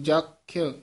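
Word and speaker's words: ਜਖ: देव कुल दैत कुल जख, ये हेठा यही आया उच्चारण, जख इस तरह बोलना, जख किन्नर नार, उत्ते टिप्पी लगे, किन्नर नहीं कहना, किन्नर नार, इथे विश्राम है।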